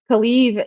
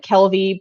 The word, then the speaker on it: Kalieve: They're just like Kaliv is spelled Kalieve or VE, and so I'm assuming some people are just like say it like Kelvy, but in their head it's fine.